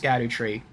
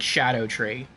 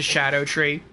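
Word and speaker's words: Scadutree: in someone's DLC stream that scad tree is not pronounced scad tree it's pronounced I think it's like Shadow tree which I guess makes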